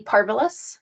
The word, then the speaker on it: parvus: granus and um p parvus you can remember that Cuz it rhymes with marvelous um and these two